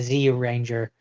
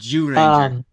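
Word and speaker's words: Zyuranger: But I did watch both the English and Japanese version of the Mighty Morphin, the ZU Ranger. Yeah. ZU Ranger? It's pronounced Jew Ranger.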